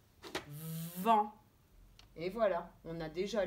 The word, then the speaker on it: vent: Si on dit d'abord V et on accroche, on ne s'arrête pas avec en, ça fait vent. Et voilà, on a déjà lu la première syllabe, vent.